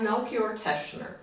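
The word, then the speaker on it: Melchior Teschner: um i'm like i said you're here to pronounce our our tune composer for okay so we have melchior teshner yes and he is a polish-born person 1584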